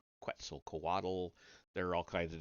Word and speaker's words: Quetzalcoatl: figure of the horned and feathered snake god Quetzalcoatl. I know it's Quetzalcoatl. There are all kinds of different pronunciations for that.